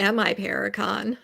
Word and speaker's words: MI Paracon: Yeah, because you just had you were just at My Paracon, right? Yep. Is that how they say it? My Paracon? I say MI Paracon.